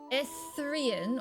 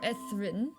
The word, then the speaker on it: Etherian: Etherian or Ethrin, with the eth pronounced like Beth, are good.